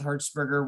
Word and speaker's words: Hertzberger: are not familiar with herzberger which is spelled like the electric hertz h-e-r-t-z burger b-e-r-g-e-r in my book he's